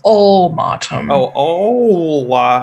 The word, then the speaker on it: Ulmatom: Put it in chat for you so you can spell it. Oh, no, I'll just make it up. Okay. Ulmatom. It's ulmatom.